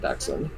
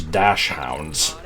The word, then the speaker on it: dachshund: So I guess that's supposed to be like dachshund. Or, Martin did call those dash hounds. No, it's pronounced dachshund. I thought it was dachshund, but yeah, it's definitely not dash hound.